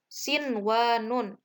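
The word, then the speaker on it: صنوان: Nah, contoh bacaannya itu sin wa nun. Nah, jadi dibacanya itu tidak dimasukkan, nunnya itu tidak dileburkan ke huruf wawu, namun tetap dibaca jelas nunnya. Jadi nunnya itu berarti diidharkan. Sin wa nun. Nah, karena di situ ada dalam satu kata.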